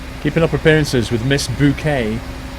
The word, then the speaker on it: Bucket: Keeping up appearances with Miss Bouquet. Even though her name was spelled bucket, she pronounced it bouquet.